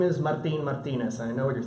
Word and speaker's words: Martinez: My name is Martinez, and I know what you're thinking. Some of you can roll your R's, others can't. Just call me Martine.